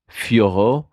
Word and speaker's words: Fiorot: It's in French it's Fioro they were saying fo um okay fo so three syllables.